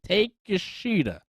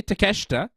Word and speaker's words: Takeshita: Because when you say when you see it spelled, you're like, take a shitta, take a shitta. It kind of looks like take a shitta, but I try to pronounce it correctly, Takeshita, right.